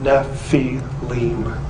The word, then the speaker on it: Nephilim: constant of the naval this spelling is the ancient way of telling us that this is how you say the word Nephi Lim and therefore it cannot